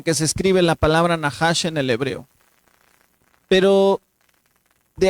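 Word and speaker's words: נחש: Se dice Nahash. Y aquí en la diapositiva podemos ver cómo se escribe Nahash.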